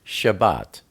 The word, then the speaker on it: Shabbat: about the Shabbat the um the Sabbath properly pronounced Shabbat is one of the best known and least